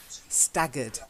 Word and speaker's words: staggered: the last one is that hard G sound yeah staggered because it's double G